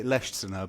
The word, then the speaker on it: Leschziner: How how would you say it? I I would say Leer, but I respond to a variety of pronunciations.